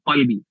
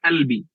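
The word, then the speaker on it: قلبي: Oh salah, kamu harus mengucapkan dengan huruf qaf ya, qalbi. Atau kalau lahja Mesir ya albi. Nah, jadi kalau pengucapan bahasa Arab itu masih banyak variasi lah, karena kita tidak diwajibkan untuk sesuai dengan makhrajnya. Misalnya di Mesir huruf qaf itu dibaca dengan hamzah, ya albi.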